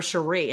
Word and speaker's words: Sherry: And she was calling her Cherie. And I'm like, oh, snap. It's spelled Sherry, but it's Cherie.